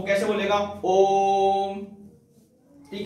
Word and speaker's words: ओम: देखिए इस प्रकार देखा होगा, इसका उच्चारण जो है वो कैसे बोलेगा, ओम।